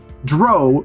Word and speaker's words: drow: So mine is Dro rhymes with crow, not cow, which is to say. Let's just say it's not pronounced not drow.